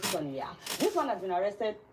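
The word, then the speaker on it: Sagna: This is the way it's written, but it's pronounced Guy Marius Sonia.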